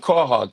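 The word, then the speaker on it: quahog: that's funny and is stuffed how do you pronounce it quog stuff quog now here's the thing so you got your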